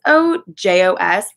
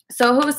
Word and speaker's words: SOJOS: you're looking at it but it's s o Jos I would think that's pronounced ojos right like that would make the most sense but Soho's is the brand and I'm doing a